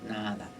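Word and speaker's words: nāda: Es como quedarse en silencio y oír un sonido interior, que los yogis le llaman el nada, con doble A, ¿no? Una A larga, nada, significa sonido.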